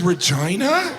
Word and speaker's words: Regina: with perverts all this Regina that's not necessary richina they could have pronounced it Regina is there perverts everything